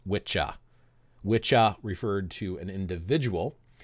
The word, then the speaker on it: wicca: Anglo-Saxon word which is spelled the same way but it's pronounced witcha wicha referred to an